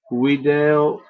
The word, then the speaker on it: video: infinite verb without again in the classical pronunciation of Latin the V is always pronounced as a w first person singular video always second person singular